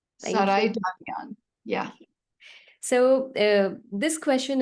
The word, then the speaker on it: Saraydarian: then the last name, how how does it pronounce? Saraydarian. Saraydarian.